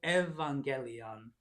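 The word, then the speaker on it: εὐαγγέλιον: Epsilon, epsilon becomes ev. So we have to evangelion katayuanin.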